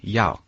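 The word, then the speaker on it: 要: The word for want is yao.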